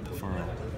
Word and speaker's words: Ferrell: say your last name feral like referral yeah feral yes I apologize it's